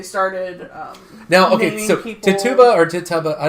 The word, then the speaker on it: Tituba: now okay so keep Tituba or tits huh but I don't know are you sure it's how it's pronounced I don't want to butcher people's names it's ti tu ba to the kuba hepatech